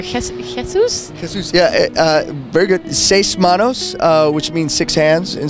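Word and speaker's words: Seis Manos: of help and Netflix is coming up with sighs mammals if I pronounced it correctly can you tell us a bit more about that like what it's about and your character kiss kisses yeah very good say smanos which means six hands in Spanish the series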